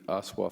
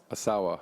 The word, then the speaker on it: Asawa: that uh The Fountain the aswa fountain is that did I pronounce that correct Asawa Asawa excuse me VB the